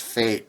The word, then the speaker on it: F8: is pretty funny because f8 i think it's supposed to be pronounced fate but i'm not going to call it that yeah f8 anyway it's